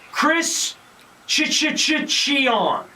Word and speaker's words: Cichon: At some point, I'm going to learn how to pronounce your name, so I'm going to say that was Chris Cichon.